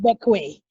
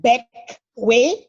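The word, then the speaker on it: Bequia: It is French, but it's pronounced Beckway, as in Beckway, like to beckon.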